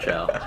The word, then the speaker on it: ciao: do you say it that's alien right no it's ciao you know they people